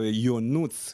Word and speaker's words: Ionut: So Ionut is the name. So that's how you pronounce my name.